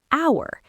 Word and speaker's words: hour: Because the h is silent. The first sound you actually make is the vowel sound.